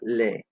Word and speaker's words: laids: Ils sont des hommes laids. Laid has an S at the end. It is silent to make it plural, but you get the idea.